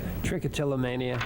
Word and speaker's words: trichotillomania: Trichotillomania.